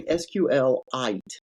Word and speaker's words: SQLite: way you pronounce it I say SQL I like a mineral SQL that's the only